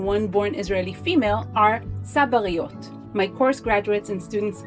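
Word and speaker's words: צבר: in Israel as sabis by simply Shifting the syllable emphasis from sabar referring to the cactus to sabar both written the same in Hebrew we land on the Hebrew term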